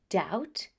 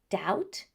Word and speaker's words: doubt: And for this reason, we only pronounce the letter T. That's why we say doubt, debt, or for the PT combination, receipt.